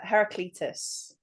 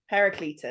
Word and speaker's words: Heraclitus: So, it's uh Heracletus. Okay. Okay. I know where you were going with that, but I'm sorry to disappoint. Heracletus.